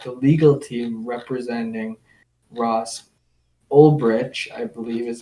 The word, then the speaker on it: Ulbricht: it looks like the legal team representing Ross Ulbricht, I believe is how you pronounce it, they're basically pitching to Trump that he should grant clemency.